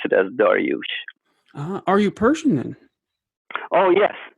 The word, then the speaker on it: Daryoush: of saying that correct Darius is the Greek pronunciation of it that most people most Americans know it bite by but